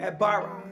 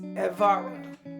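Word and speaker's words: עברה: comes from a word abara. But actually, since a B is a V, it's actually pronounced evara. It sounds like the word ever, okay, evara.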